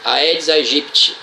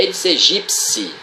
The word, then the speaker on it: Aedes aegypti: Aí os repórteres da televisão vão lá e dizem Aedes aegypti. Na verdade eles não têm culpa, eles não estudaram biologia, eles não foram alunos do professor Allan Calvé. Então a pronúncia correta é Aedes aegypti.